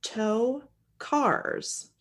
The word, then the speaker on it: Tokars: this guy named Fred toe cars and I did spell that phonetically for myself it is to cars but it's spelled t o k a RS this took place in